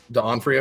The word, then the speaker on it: D'Onofrio: D'Onofrio, is that it's pronounced?